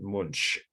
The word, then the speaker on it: Munch: do when you're hungry it's a Germanic sounding last name though he was from Norway but it's spelled m-u-n-c-8